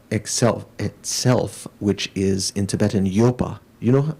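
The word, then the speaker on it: ཡོད: So you'd say Y-O-D, but you don't pronounce the D at the end. Okay, Yo.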